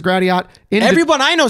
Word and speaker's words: Gratiot: It's Gratiot, but not but the Canes. But yeah. Also, maybe poll here. Do you pronounce it Gratiot or Gratio? Gratio. That's a thing. Gratiot?